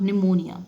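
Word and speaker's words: pneumonia: not easy tips और निमोनिया निमोनिया की spelling है वह पीछे स्टार्ट हो रही है लेकिन पीस साइलेंट हो आप ओके तो डॉन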